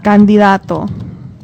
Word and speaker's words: candidato: Nominee in Espanol is candidato. Do what? It's like candidate, but candidato. Candidato. Candidato. Candidato. Perfect. Candidato. It's a D. Dato. Candidato.